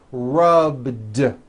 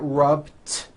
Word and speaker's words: rubbed: All I did was add a voiced D sound at the end. Rubbed. It's not rubbed with an unvoiced T. It's rubbed, like that.